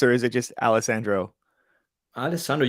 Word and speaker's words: Alessandro: Alessandro, you pronounce it really well.